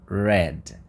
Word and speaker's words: read: da mesma forma read mas a pronúncia é read tá Red eu vou colocar aqui a diferença aqui eu tenho som i e aqui eu tenho o som e para você lembrar depois